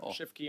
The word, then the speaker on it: Schiefke: Shifke, on a point of order. Sure. Sorry, it's just a quick clarification. My last name is pronounced Shifke, It's just a Chief K.